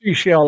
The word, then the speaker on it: Seychelles: You But said it's pronounced seashell like the shell on the beach.